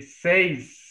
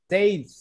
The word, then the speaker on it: seis: This is one S at the end, at the beginning, one S at the end. Okay. Seis. Seis, Seis.